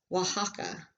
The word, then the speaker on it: Oaxaca: it is the name of the state it's pronounced Oaxaca and here is this star and is earth at this star is Oaxaca City a Oaxaca City the capital of the